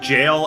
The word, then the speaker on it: gaol: think it does is gaol is pronounced jail is that the oldest